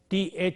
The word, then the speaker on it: theory: We have these sounds in a word like theory. T-H-E-O-R-Y in English, theory. When we say that, the first sound is th.